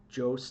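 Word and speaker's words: Joost: feelings about that um Jo Klein I hope I said it right I had people correcting me Jo like ghost Klein with Europa uh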